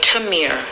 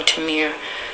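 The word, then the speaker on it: Tamir: Timir. Sorry, Timir.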